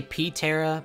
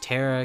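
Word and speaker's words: Ptera: the vivosaur you know I say p Tera but I guess it's just Tera cuz the p and pterodactyl is silent I really like Fossil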